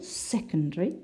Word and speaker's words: secondary: elephant number three we have secondary the first syllable secondary secondary and number four retire it's